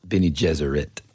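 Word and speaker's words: Bene Gesserit: the Reverend mother for the the oh yeah Ben Jesuit is that how you say it Benny jerit jeser that's right okay cool and I forget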